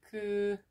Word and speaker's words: 금요일: So here, there's also final consonant, and they're gonna move to silent sound. What the sounds would be? Cool. That would be 금요일.